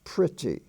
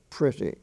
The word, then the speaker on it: pretty: bussy it's busy and p-r-e-t-t-wise pronounce pretty as if it were a short i pretty but the end is the long e sound written as y and incidentally um the